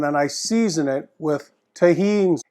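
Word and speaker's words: Tajín: I season it with Tajin it's a common seasoning in Mexico it's spelt t8j I am the J is silent Tajin seasoning it's delicious great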